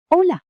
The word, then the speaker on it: Hola: Hello. Silent H. Hola.